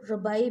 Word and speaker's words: Rabbi: Similarly, इसी तरह से the story of the Rabbi Zaid, Rabbi यहूदी आलम, यहूदी फ़की, बाज़ लोग इसको रबाई भी प्रोनाउंस करते हैं, रबाई भी आप इसको कह सकते हैं और रबी भी कह सकते हैं.